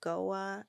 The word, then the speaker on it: Goa: a Ministry out of I think you pronounce it Goa India g-o-a oh